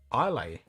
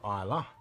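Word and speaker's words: Islay: a couple others and his dad always says I lay not Isla so he always pronounces it I lay in the max rampant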